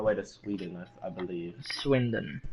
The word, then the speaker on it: Swindon: Swindon. It's spelled S-W-I-N.